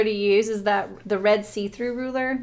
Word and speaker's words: C-Thru: My favorite ruler to use is the red see-through ruler. Like the brand, it's called See-Through, and it's spelled C-THRU, see-through.